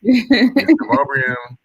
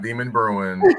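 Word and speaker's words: Demonbreun: in Nashville and uh it's bu Canon not Buchanon deum not demon Bruin and it's Riley not really so I just want to kind of throw that out there for those F that don't know Nashville lingo just gonna get to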